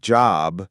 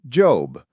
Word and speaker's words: job: They might pronounce a word like job as Job, rounding their lips too much. But in American English, it's a big, open, relaxed job.